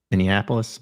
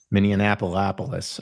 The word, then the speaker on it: Minneapolis: Minneapolis. Minneapolis. Apparently, you threw an extra in minapolis. Minianapolis.